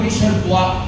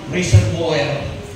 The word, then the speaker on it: reservoir: Sa Tagalog, reservoir, imbakan. Imbakan. Kasi sa pagbabasahin mo sa salitang English yun, sa wrong pronunciation ay reservoir. Pero ang pronunciation na reservoir. Reservoir.